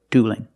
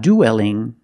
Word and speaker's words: dueling: idea they shouldn't duel so see the difference duel with a dark L and dueling with a light L because the L is between vows in the word dueling and it's not duelling don't pronounce that e